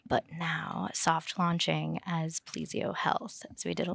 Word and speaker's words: Plesio: company again plesio health is the new name plesio yeah how do you how do you spell that p l s i o PLO Health